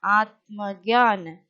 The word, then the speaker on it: आत्मज्ञान: See children, again ta is joined to ma. So ta only we will pronounce as half letter. Ma we will fully pronounce. So atma jnaan. Atmagyan.